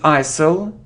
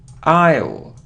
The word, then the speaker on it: isle: so often often look it isn't ISIL now Isle Isle it is that it